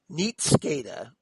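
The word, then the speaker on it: nihtscada: old world english and i'm hoping i'm pronouncing this right because it's spelled n-i-h-t-s-c-a-d-a so probably neat scada okay or neatscada which is also nightshade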